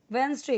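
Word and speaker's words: Wednesday: सबकी ट्यूसडे यानी मंगलवार वेनसडे कोई लोग इसे वेनसडे भी बोलते हैं कोई यहां पे आप ये मत सोचिए कि ये डी ये डी साइलेंट है यहां पे हम इसे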